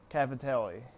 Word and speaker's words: Cavatelli: This is chicken with Cavatelli. Menu number 23. Hopefully I'm saying that right. Cavatelli, I believe is how you say it.